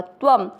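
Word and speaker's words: त्वम्: आधे त के साथ व पूरा त्व, शब्द पूरा होने के बाद व पे अनुस्वार आधा म त्वम।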